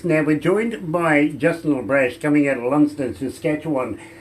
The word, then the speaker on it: LeBrash: It's a simple name. It's spelled like it sounds, but you would have no idea how many people go LeBrash? No, LeBrash. Exactly.